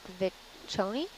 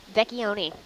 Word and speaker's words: Vecchioni: totally going to mispronounce his name, but Vicconi? Vecchioni. There you go.